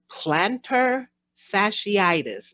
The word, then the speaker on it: plantar fasciitis: I'm going to come out the box with plantar fasciitis. Am I saying it correctly? Yes, you are. Plantar fasciitis, which All is basically right.